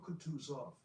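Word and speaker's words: Kutuzov: said Anna Pavlova General cout off said bonsky speaking French and stressing the last syllable of the general's name like a Frenchman has been pleased to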